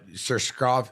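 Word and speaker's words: Susurkaev: No, Surshkov.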